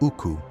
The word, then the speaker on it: ukku: The steel itself was called uku. When European traders encountered it, they wrote the word phonetically. It became Wootz.